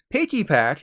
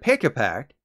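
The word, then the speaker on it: Pikipek: instead of P Dove piggy pack instead of pick a pack and Pupitar instead of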